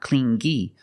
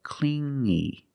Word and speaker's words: clingy: You hear the sound only the nasal sound here, no G, not clingy, but clingy, clingy.